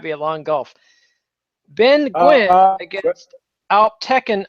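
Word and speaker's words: Nguyen: a long Gulf Ben Gwyn against al Tekken o kilick sorry I interrupted you say again Ben Gwyn that's Gwyn with the ngu ye n the Vietnamese Gwyn also pronounced also pronounced win win well what you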